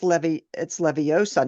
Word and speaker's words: Leviosa: No, but like, think about Harry Potter, where it was the word, like, Wingardium Leviosa. It's Leviosa, not So, yeah.